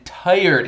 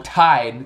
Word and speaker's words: tired: Eu achava que ela cantasse Quiet and Tired in this bloody cave. Ela pronunciou tired com duas sílabas, né? Tired. Mas em inglês é tired, uma sílaba só.